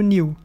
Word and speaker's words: knew: Outro verbo, o know e o knew. Você não pronuncia o K ali no começo da palavra. Eles estão na primeira coluna aí. Então, know e knew, não pronunciou o K.